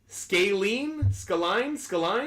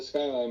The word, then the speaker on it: Skyline: Let's go to Skaline, I think. Not quite sure how you pronounce it, but we're getting him on the line. Skaline, is that how you pronounce it? It's Skyline, but you're good.